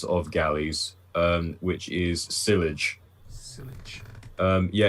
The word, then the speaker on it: sillage: It's sillage, apparently. Sillage. So it's French again.